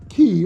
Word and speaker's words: Qi: which allows you to charge key or key however you want to pronounce it compatible devices as